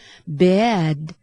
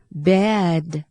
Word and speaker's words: bad: มี ความ หนัก แน่น แต่ ตัว ดี ที่ ตาม หลัง สระ ซึ่ง เป็น เสียง สะกด เนี่ย เรา ออก ให้ เบา นะ คะ ไม่ ต้อง เน้น ค่ะ เช่น deed deed นะ คะ คำ ต่อ ไป ค่ะ Good Good นะ คะ คำ ต่อ ไป ค่ะ Bad Bad นะ คะ เรา จะ ไม่ พูด ว่า bad นะ คะ แต่ เรา จะ พูด ว่า bad Bad นะ คะ หรือ cannot